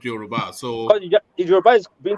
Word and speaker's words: Yoruba: his mother is a Yoruba, the son of a Yoruba woman for us. But according to the answers of the plan, they call it Yaraba. The deceitful one, how they say it.